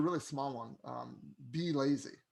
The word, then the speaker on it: Blazy: really small one um be lazy that's basically how you pronounce it and um a lot